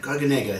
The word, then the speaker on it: Garganega: a pen forty percent garganega gargant garganega it's pronounced twenty percent trebiano toscano five